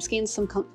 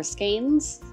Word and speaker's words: skein: As before, you want to open up your skein Some people call (pronounce) them "skeens" or "skayns" and some people call them hanks.